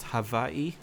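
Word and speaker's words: Hawaiʻi: CU I believe that Hawaii is actually or natively pronounced Havi I think is correct uh um so um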